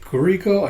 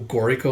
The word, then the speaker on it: Guriko: I think I keep calling him Goriko instead of Guriko.